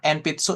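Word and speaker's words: えんぴつ: Jadi contohnya nih yang pertama enpitsu enpitsu itu pensil gitu ya. Kayak gitu. Enpitsu. Cara bacanya pakai M gitu ya. Tapi hiragananya sih hiragana N di sini. Seperti itu ya. Hiragana N. Tapi bacanya enpitsu.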